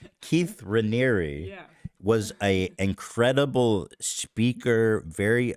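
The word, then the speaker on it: Raniere: these documentaries is that Keith Rainier is was like a very I don't care yeah apparently I've been saying it wrong Keith Ranieri was a incredible speaker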